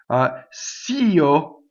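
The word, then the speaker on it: così: Cio, io, two separate syllables, right? We usually only have one note because this is considered a one-syllable word. Remember, it was organized by Italians, right? Okay. Io, and there will almost every composer will write one note for this word, and you have to sing two notes.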